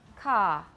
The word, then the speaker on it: car: this word in american how do we say it in british car car all right do you hear a